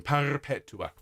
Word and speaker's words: perpetua: If you want to roll your R's on perpetua, you can. Perpetua.